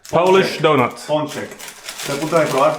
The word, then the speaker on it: pączek: Pączek. Polish donut. Ponchek.